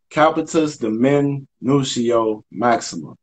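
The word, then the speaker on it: capitis deminutio maxima: minutiae the men new shield that's how you pronounce it capitus the men nucial maxima so that's a capital name that means the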